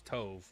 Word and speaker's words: Tove: Tuve is not her name, bro. It's Tove. How you going to pronounce this name? T O V E. That is Tove, not T.